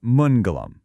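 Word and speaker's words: मङ्गलम्: It's mongalium. It's pronounced mongolum. Let's try that one. Mongolium.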